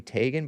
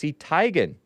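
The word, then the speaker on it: Teigen: because it sounds E before I right Chrissy Tagan but it's actually pronounced tigan according to her mother and she knows it but other people other people uh pronounce it Tegan or whatever I guess Chrissy Tegan you guys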